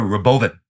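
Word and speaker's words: Robovan: out it's called the it's spelled Robo van but he calls it the Roven Robo Robo van I I'm going to call it Robo van it is a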